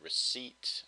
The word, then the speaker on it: receipt: or a prescription but in English we have the word receipt and the p is not pronounced d viton in German